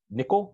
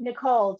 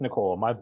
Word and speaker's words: Nikol: super participant Elizabeth Nichols nickel am I pronouncing it right Elizabeth Nicole just like the first name all right Elizabeth Nicole my apologies um and